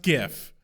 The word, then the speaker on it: GIF: qualm is we do not mispronounce GIF it's pronounced GIF g i f GIF I couldn't possibly agree